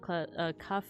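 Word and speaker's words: qaf: And kaf in classical Arabic, a voiceless uvular stop or plosive. This is a K that is pronounced at the soft palate at the back of the mouth rather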